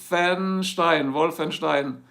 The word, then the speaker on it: Wolfenstein: Castle, like the castle. Castle, now I'm pronouncing it right. Wolf, like the wolf. Wolfenstein.